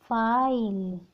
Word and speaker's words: FILE: और भी काफ़ी वर्ड्स हैं, जैसे next example FILE, CVC word last में ई इज साइलेंट, फाइल क्या बनेगा, फाइल।